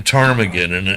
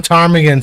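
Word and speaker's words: ptarmigan: know no he brought up to the name Tagan and oh because I live on Tagan somebody yeah that is it's the willow Tagan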